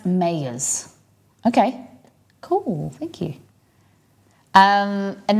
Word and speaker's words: Meijer: Pronounce Mayers.